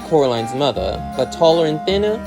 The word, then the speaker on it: Coraline: upstairs both of them get Coraline's name wrong calling her Caroline and I know that